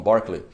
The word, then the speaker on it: Berkeley: Escreve Berkeley, né? Mas lá eles falam Berkeley.